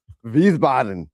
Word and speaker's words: Wiesbaden: I'm going to pronounce this right, but it's Wiesbaden. Oh, wow. Okay. Did I pronounce that right? Of course, I say that like I've been there. No. Wiesbaden.